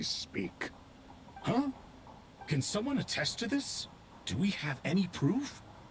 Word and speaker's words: Thoth: They're pronouncing it Herreshoff, Thoth with the you TH. diabolical It's supposed to be fiend. Toth.